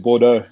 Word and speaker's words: Bordeaux: I know you went to the top 14 and played a few games there for Bordeaux. Excuse me if I'm not getting pronunciation right. Yeah, no, it's a town called Bordeaux.